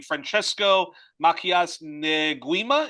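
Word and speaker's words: Francisco Macías Nguema: Franchesco Makias Neuima is is that how you say it?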